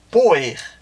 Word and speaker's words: poer: Antes, no português arcaico, no português antigo, há muitos séculos, o verbo por era escrito e pronunciado assim, ó. Assim, ó. Aqui está, verbo por. O verbo por era escrito e pronunciado assim, na nossa língua portuguesa, aqui no Brasil. Poer, poer, poer.